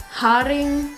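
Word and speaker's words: haring: more things there like hodding that's how they pronounce herring and some other stuff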